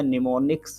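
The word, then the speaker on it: mnemonics: Spelling है MNEMNICS, बट उसको कहते क्या, निमोनिक्स की जरूरत पड़ी है, निमोनिक्स बनाए गए।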